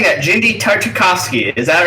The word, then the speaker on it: Genndy Tartakovsky: genndy tartakovsky I still have trouble saying that genndy tartakovsky is that right yes you did say it